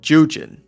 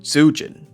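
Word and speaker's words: Zhu Jin: And also, I just realized that the name's pronounced Jujin, not Zujin. I was saying it with the hard Z, but they don't do the hard Z.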